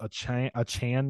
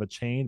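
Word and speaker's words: Achane: goes down the I I think it's pronounced a Chan now instead of a chain but he had over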